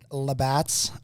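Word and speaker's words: Labatt: hopefully yeah you got a 12 pack of labotts or something with that right is that how you say it uh it's uh labats blue yeah nothing against it's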